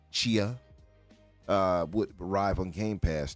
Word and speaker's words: Tchia: and the PlayStation exclusive Tchia would from SpongeBob, by the way, SpongeBob and Tchia. I'm sure that's how you say it. Tchia, TCHIA, Mm-hmm. Chia, would arrive on Game Pass throughout the month of June, allegedly.